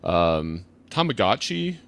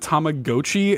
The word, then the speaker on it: Tamagotchi: That is not how it's pronounced. Now, listen, Tamagotchi or like it is, you know, Tamago means egg. Like that's what it's about. So Tamagotchi actually makes sense.